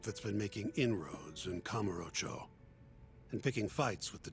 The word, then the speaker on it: Kamurocho: They definitely wanted the emphasis on that first syllable. I fucked it up so many times. Kamurocho? Kamurocho, yeah. They wanted that ka to be the emphasis. Kamurocho. Kamurocho. I normally would put it on like the row, like Kamurocho or Kamurocho.